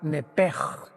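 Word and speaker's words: נפש: La palabra vida en Levítico 11:17, si no me equivoco, es la palabra nepej que se escribe nepesh en el hebreo, que es la traducción que se usa para designar el alma humana.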